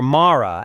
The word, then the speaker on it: Mara: packs with the Devil the mayor or Mara as it is pronounced in Polish was considered to be